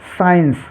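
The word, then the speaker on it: science: तो सी साइलेंट रहेगा जैसे साइंस साइंस में देखिए सी है और सी से पहले एस है तो यहां पर हमको सी को साइलेंट रखना है साइंस साइंस में देखिए सिर्फ एस को हम उच्चारित कर रहे हैं सी को साइलेंट रखा है ऐसे ही सेंट सी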